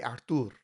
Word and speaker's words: Artur: é Artur," is because if a Brazilian tries to pronounce the word Artie, it comes out Archie.